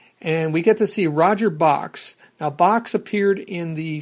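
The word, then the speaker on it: Bochs: And in fact, in this issue, he makes it the point of explaining that it's pronounced just like Box, B-O-X.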